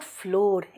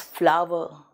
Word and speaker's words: flour: इट इज नॉट फ्लोर, इट इज फ्लावर।